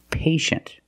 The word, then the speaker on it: patient: examples patient and initial with patient we see t-i-e making the sh sound patient the first syllable is a long a like day and pay pay and shin the second syllable is a closed sound patient patient can be